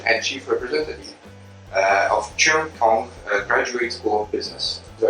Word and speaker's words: Cheung Kong: the associate Dean and chief representative uh of Chung Kong Graduate School of Business do I pronounce it correctly yes correct okay very well